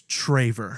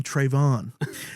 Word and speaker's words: Traevor: Is it Trevor or is it Traver? It's Traver. See, it's Traver. So, a lot of people, the reason why I go by is because so many people mispronounce my name and they want to call me Trevor. I had a teacher in middle school.